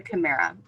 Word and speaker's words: Kimera: means sweet illusion, Dolce Kimera. And so it should be spelled with a K, with a CH, like chimera, but chimera. Yep. But the K is just easier.